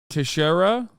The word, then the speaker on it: Teixeira: Jack tejeria am I saying that right is it Jack tahiria Junior member of the US wait hold on he'll say it right in a second Tashara Tashara Jack Tashara uh is appearing in U.S